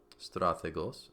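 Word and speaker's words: στρατηγός: And now the accent, if we look over here to our vocabulary, strategos, the accent is on the ultima.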